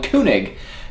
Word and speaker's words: König: review this time on kunig by Yosh or kig as I mistakenly called it until five minutes ago yeah that's right German pronunciation apparently is kunig nice apparently CU I